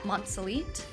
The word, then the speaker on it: Monselete: e t I'm also on Instagram so @ monelite and I'm also on LinkedIn so any one